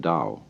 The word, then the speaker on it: Tao: to a Chinese word Dao you know that's spelled t-a-o I don't know why because it's usually pronounced Dao and the Dao means many things primarily